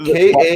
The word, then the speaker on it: Kardashev: What does pronounce the Kardashian scale? It's like spelled Kardashev.